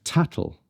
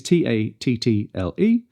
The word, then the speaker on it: tattle: In this accent, we pronounce T's differently if there is an L sound after them.